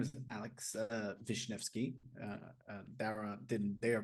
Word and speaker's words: Darragh: It's Darragh. You can ignore the G and the H.